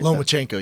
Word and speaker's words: Lomachenko: It's Lomachenko, right? Lomachenko, yeah.